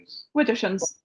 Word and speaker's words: Widdershins: Widdershins.